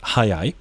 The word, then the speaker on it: 速い: Okay, so they're both pronounced hayai.